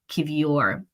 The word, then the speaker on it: Kiwior: Also, apparently it's Kiwior.